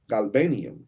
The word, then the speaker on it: galbanum: odor like the best myrr as G ganum galbanum and onyx and a sweet storax and a